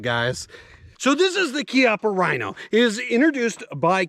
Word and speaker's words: Chiappa: yes I know it's spelled chiaa but it's pronounced kppa guys so this is the kppa Rhino it is introduced by kppa firearms in